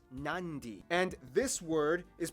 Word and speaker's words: Nadi: make the sound therefore the town of nadi is actually pronounced nandi and this word is